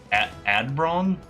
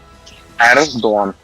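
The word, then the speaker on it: Erdoğan: Oh, Erdogan. Adbron? Erdogan. Erdogan.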